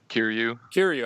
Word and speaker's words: Kiryu: Kiryu. I keep on saying Kyrie because of Kingdom Hearts.